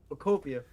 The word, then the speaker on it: Pokopia: It's pronounced Pokopia, Pokopia. like Utopia. Just think Utopia.